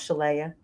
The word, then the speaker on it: Shala: Shala. Don't mess it up. It's basically Princess Leia with a sh, but my mom did it phonetically. So, it's if you're a Star Wars fan, that is not it.